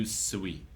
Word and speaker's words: Ryusui: Ryusui. Ryusui. Yeah. Okay. Sui. Ryusui. Sui. Like Chuck. Sui. Not like calling the pigs home.